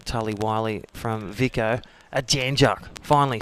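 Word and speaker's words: Jan Juc: A Janjuk.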